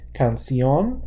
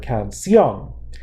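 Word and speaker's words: canción: are about yes so it should fall in the second and last syllable listen to the word cancion it doesn't it follows the stress Falls here so we need an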